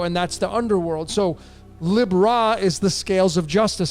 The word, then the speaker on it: Libra: into the house of Libra and Libra that's how I pronounce it some say Libra it's I pronounce it lib ra cuz ra is in there why is raw in